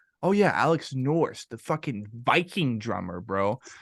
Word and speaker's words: Nourse: Nourse, your last name is pronounced Nourse, right? Yep.